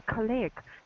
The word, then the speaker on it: colleague: colleague colleague that's it so the stress the stress on colleague is really on the first syllable colleague colleague that's it